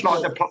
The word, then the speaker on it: Senegals: It's Senegals. like the place.